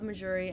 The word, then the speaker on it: Mejuri: I believe Mejuri. that's the correct pronunciation.